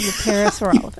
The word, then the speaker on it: Parasaurolophus: The same family of the Parasaurolophus.